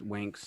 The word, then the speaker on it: Winx: it's it's pretty good it's w-i-n-x but it's pronounced winks i i believe oh